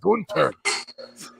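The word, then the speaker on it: Gunther: for the braun breaker golf ziggler match it's pronounced gunter both those could be match of the weekend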